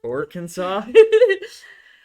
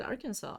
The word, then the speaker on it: Arkansas: I was like, why do you guys pronounce it Arkansas? It's clearly Arkansas. Yeah. Like, I don't get it. Arkansas. Like, why do you pronounce it Kansas and not Kinsaw? You know, you could just have, right? Yeah. Because it's spelled the same as Kansas.